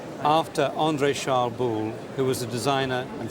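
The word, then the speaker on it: Boulle: l l e all right after Andre charl bull who was a designer and Furniture maker working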